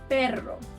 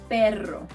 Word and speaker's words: perro: But to do the harder version of the R, which is called R, you have to trill your tongue. Try both sounds. Pero, perro. Pero, perro.